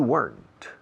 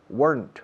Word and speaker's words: weren't: Why weren't you here yesterday? I was here yesterday, but you weren't. Weren't. Otra vez una sola sílaba.